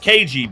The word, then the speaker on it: Kaiji: Kaiji Tang is the voice actor for Kaiji or Keiji. It's spelled Kaiji, but he pronounces it Keiji because that's how, like,